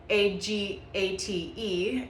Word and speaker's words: agate: It is spelled Agate, and I know myself in the beginning when I first started learning and reading about it, I was pronouncing it wrong.